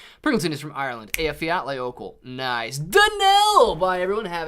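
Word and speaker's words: Eyjafjallajökull: nice man very nice afiya outlay opal is how you say that volcano pringleton is from ireland a fiat layovel nice danelle bye everyone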